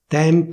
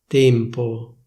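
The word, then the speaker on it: tempo: First, I'll tell you the standard pronunciation of a given word, and then I'll tell you how it's pronounced in Milan.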